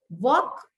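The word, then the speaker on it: walk: वॉक, L silent.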